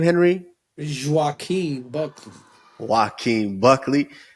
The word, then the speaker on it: Joaquin Buckley: Joaquin Buckley.